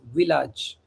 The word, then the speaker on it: village: Okay, the spelling is same like English but in French we pronounce village.